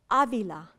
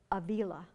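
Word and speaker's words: Ávila: not that hard and Avila has an accent on the first a Avila not Avila so I'm at Yale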